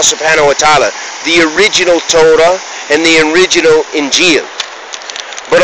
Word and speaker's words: Torah: revealed the tat inil the Torah or as we pronounce in English Torah and the inil meaning